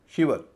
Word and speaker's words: shiver: शिवर, SHIVER, इसका उच्चारण शिवर है, शाइवर नहीं है, शिवर है। शाइवर होता तो फिर ये लंबा स्वर हो जाता, फिर इसको बांटने में दूसरा नियम अपनाना पड़ता। शिवर है, छोटी ई का उच्चारण है, इसलिए यहाँ पर भी